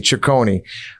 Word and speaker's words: Ciccone: Ciccone.